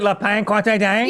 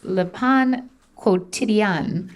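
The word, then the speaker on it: Le Pain Quotidien: Is it La Pan Quantidang? Yeah. Although there's a new trick that Carney taught me, so it's Le Pan Quotidien.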